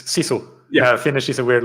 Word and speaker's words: sisu: I think I pronounced that. It's sisu.